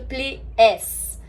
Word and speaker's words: pliés: próprios passos da Royal, o próprio plié é escrito pliés, mas a gente fala plié do mesmo jeito, porque esse S não é pronunciado em francês quando ele tá no final da palavra.